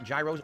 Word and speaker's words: gyros: Homemade chicken gyros, or gyros as they pronounce them at the restaurants. Superbly delicious. Could not believe how good they were. Blew me Phil, away. why do you... So we're currently on what floor? Why do you keep calling them gyros if they pronounce them heroes?